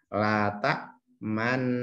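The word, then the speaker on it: لَا تَأْمَنَّا: Ini tulisannya lata manna. Cara membacanya adalah dimoncongkan bibirnya sebagai isyarat bunyi domah.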